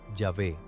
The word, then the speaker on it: Yahvé: Los estudios modernos reconstruyen la pronunciación como Yahvé basada en transcripciones griegas.